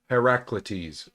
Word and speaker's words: Heraclitus: This is Heraclitus, folks. This is how you say this fucking name.